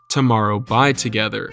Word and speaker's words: TOMORROW X TOGETHER: TXT stands for Tomorrow X Together, which is officially pronounced Tomorrow By Together, and they are my #1 alt group, which basically just means my all-time favorite K-pop group.